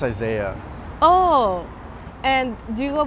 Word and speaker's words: Isaiah: Is it Asaya or? It's pronounced Isaiah.